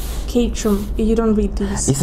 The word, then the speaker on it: Caterham: No, I just want to know how it's pronounced, so I wouldn't be able to. It's Caterham.